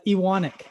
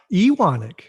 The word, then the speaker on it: Ewanuick: okay yeah how do i say it uh iwanic iwonic you want it i know it's like it's spelt like you in yeah like if you